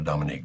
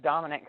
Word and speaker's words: Dominic: again and go to Dominique. Dominique, are you there? Hi. Yes, this is Dominic. Thanks for taking my call. Dominic, as I pronounced it.